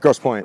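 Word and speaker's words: Grosse Pointe: like green green how do you say it gross point Gross Point yeah yeah just outside Detroit like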